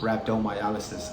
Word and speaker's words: rhabdomyolysis: Rhabdomyolysis. Okay, that's the American accent. Rhabdomyolysis. Other doctors from other parts of the world, they pronounce it like rhabdomyolysis or something like that.